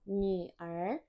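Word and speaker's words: 女儿: Hati-hati di kata Niu Er, Ni itu u-nya u umlaut, jadi kita bacanya yu, suaranya i tapi bibirnya monyong. Ni.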